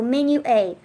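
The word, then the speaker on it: Menuet: ET is how she spells it and it's pronounced menu plus a so menu eight okay I'm gonna get it one of these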